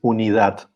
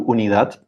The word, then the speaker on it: unidad: let's go back to unidad it's unit yeah that's correct and in spanish we stress the last syllable here we need that